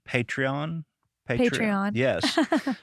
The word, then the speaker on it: Patreon: Patreon. Patreon. Patreon. Yes. So, being from Arkansas, I want to say Patron. Patron. Which is not what that is.